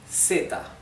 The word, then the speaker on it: zeta: So, in Spanish from Spain, so I mean in most parts of Spain in Europe, this would be theta, like the th in English, theta, th, right?